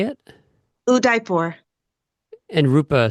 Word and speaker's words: Udaipur: It's not Uh, D, it's the Udaipur. Dharmendra, am I pronouncing your name Yes.